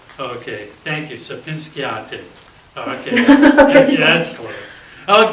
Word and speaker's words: Sapezhinskayte: So it's Sapezhinskayte. Okay, thank you. Sapezhinskayte.